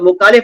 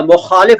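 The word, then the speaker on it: मुख़ालिफ़: पर मोइन पूछते है मुखालिफ तो मुखालिफ नहीं होता मुखालिफ होता है मुखालिफ देखो कैसे बोल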